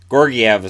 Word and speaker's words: Georgiev: gorgey ever Gorgui have Gorgui ever seems to be the way they pronounce it but it sounds weird doesn't it with this 929